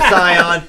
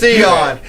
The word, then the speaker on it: Sion: Shane called him Cyon. He's like, hey, man, it's Sion.